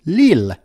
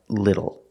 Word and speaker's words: little: We don't pronounce the word lil, lil. Some people, when they're talking really fast, will pronounce it lil, lil, lil. Not lil, but lil. I'm a little tired. But you don't have to pronounce it like that. Pronounce it like little.